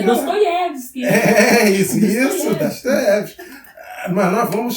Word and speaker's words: Dostoiévski: Ele fala a pronúncia. A gente fala Dostoiévski, mas é Dostoiévski.